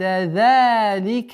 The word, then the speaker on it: ذَلِكَ: وَالْأَرْضَ بَعْدَ ذَلِكَ دَحَاهَا. Согласовки фатха, уходим на лям. Арда. Твердое произношение ра и дад. Ба'да. Мягкое произношение. ذَلِكَ. Долгота в размере 2 огласовок фатха.